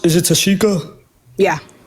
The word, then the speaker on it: Tashika: So, and then how do you pronounce? Is it Tashika? Yeah. Tashika.